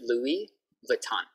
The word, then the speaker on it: Louis Vuitton: Okay, so Louis Vuitton. In English, we just say Louis Vuitton. Louis Vuitton. But it's French, so Louis Vuitton. But we can just speak like English, Louis Vuitton. No S sound, no S sound.